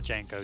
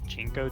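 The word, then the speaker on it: JNCO: I enjoyed a few pairs of the Janko jeans. And I think the proper pronunciation is Jinko jeans, but I like making fun of them.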